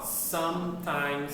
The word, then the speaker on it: sometimes: Ó, o erro muito comum na pronúncia de palavras assim é que a gente não fala esse E. Então, ó, sometimes, someone, something.